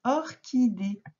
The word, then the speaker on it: orchidée: Une orchidée. On l'a vu, ça aussi, que le C et le H, parfois, pouvaient faire que. Comme dans la chorale, les enfants qui chantent ensemble, la chorale, c'est un CH.